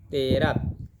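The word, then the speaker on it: Téraj: este versículo traduce como los nombres de tare como terat ya que en hebreo así se pronuncia si nos damos cuenta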